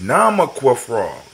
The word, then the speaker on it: Nama Frog: Mama Frog? Am I saying it right? How you doing? Welcome to the journey. No, it's Nama Frog.